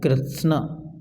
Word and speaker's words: कृत्स्न: कृत्स्न, आधा शा और आधा ता दोनों शब्द हैं, आधा ता और आधा शा, इसलिए बोलना कृत्स्न।